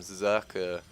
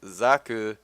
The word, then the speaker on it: Socke: gonna get a pretty standard play here from Socke. And yes, for those of you wondering, that is how you pronounce his name. It's not Sock. His name does mean sock. Socke actually means sock in German, in case you